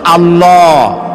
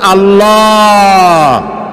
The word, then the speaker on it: আল্লাহ: আল্লাহ নয় কিন্তু আল্লাহ হচ্ছে অশুদ্ধ শুদ্ধ হচ্ছে আল্লাহ বলার সময় মুখটা গোল হয়ে যাবে বলেন তো সবাই উচ্চারণ করেন আল্লাহ আবার বলেন আল্লাহ আবার বলেন আল্লাহ সুবহানাল্লাহ কি